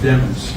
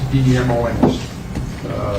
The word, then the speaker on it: Demons: His name is pronounced Demons, D-E-M-O-N-S. Lemons with a D is the way it was explained to me, and I know it's been pronounced different ways here, but it's pronounced Demons.